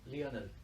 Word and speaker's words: Lionel: Leonard, was that your name? Lionel. Lionel. Like Lionel Richie, the singer.